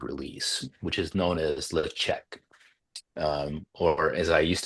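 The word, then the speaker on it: Ledaig: distillery the repeated release which is known as lech um or as I used to say before someone corrected me maybe Holly herself uh I used to say leagu but it's pronounced lech but if you're an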